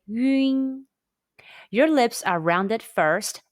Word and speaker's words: ün: When you see the English letter UN in Pinyin, the pronunciation is 晕. It's a combination of the Mandarin Chinese yu and n sounds. Say 晕.